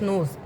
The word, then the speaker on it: gnus: This G will be silent and US gnus.